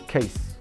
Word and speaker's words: Kes: And they pronounce my name actually the way it's supposed to be pronounced, right? So K E E S is Kes.